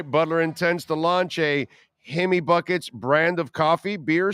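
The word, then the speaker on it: Jaime: yay so we say he me we look at the J we say he me Buckets so I don't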